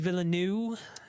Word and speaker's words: Villeneuve: his last name, and I've heard people pronounce it. So I don't know if it's Villeneuve or Villeneuve, but it's whatever you want it to be, I guess, right?